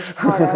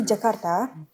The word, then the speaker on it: Jakarta: When we see Jakarta, okay, I'm not going to say it like, Jakarta. yeah, Jakarta, like the US people. I'm going to say when we see Jakarta, we see that it is very developed.